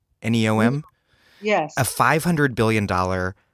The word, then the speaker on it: NEOM: cuts to public subsidies and also is it pronounced neom neom yes a 500 billion dollar high-tech city on